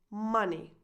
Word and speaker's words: money: The correct pronunciation is money. Money.